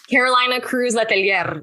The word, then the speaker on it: Cruz-Letelier: Carolina Cruz-Letelier. You got to roll your R's.